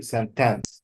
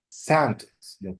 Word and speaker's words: sentence: example here this where some students would say sentence this is misplacement of the stress this the put stress on the second s rather than the first okay sentence sentence sentence open open